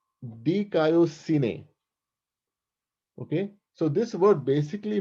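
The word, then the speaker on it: δικαιοσύνη: It's pronounced dikaiosine.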